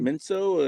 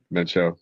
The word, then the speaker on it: Mencho: Menso, or is that how do you say it? Mencho, yeah.